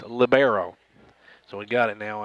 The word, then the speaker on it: libero: Now, I found out that's not pronounced libero, as Trinity told me last week. She said I was a goof and misspelled that all year long. So it's libero.